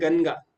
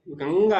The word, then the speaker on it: गंगा: कई लोग बोलते हैं गनगा, गनगा नहीं है, गंगा है, अंग हो रहा है ना।